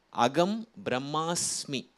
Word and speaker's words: அகம் பிரம்மாஸ்மி: அகம் பிரம்மாஸ்மி அதுதான் வாசகம். அது உபநிடதத்தில் வருவது. அதே போல் பிராணாயாமம் அதுதான் சரியான உச்சரிப்பு.